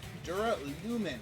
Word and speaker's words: Duralumin: Duralumin. Okay, that's how you pronounce that.